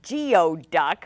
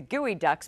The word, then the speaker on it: geoduck: from oysters or clams although you'd want to pronounce it geo duck based on its spelling the name comes from a nisqually indian term guidak that means dig deep the gooey ducks burrow deep into the